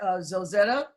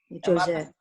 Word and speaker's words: Josette: Now is there, Zozetta, are you on? Did I pronounce it correctly? Zozetta, Josettete? Josette. Josette, am I pronouncing it right? You are.